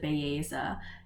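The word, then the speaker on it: Belleza: i was listening to the audiobook and they pronounced it baeza and then i also looked up like interviews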